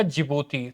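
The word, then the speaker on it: Djibouti: दरअसल जी जो डी होगा ना इसमें दोस्तों, ये डी साइलेंट रहता है, तो डी जिबूती नहीं बोलता, डी तो रहेगा चुप, जिबूती बोलेगा।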